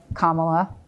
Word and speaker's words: Kamala: It doesn't matter if you love Kamala, that's how you say her name, or if you're a Trumper.